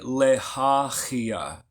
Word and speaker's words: Lehahiah: So properly pronounced, it'd be Lehahiah. Lehahiah. Say it with me, y'all. Lehahiah. So the second letter H is actually a Ch.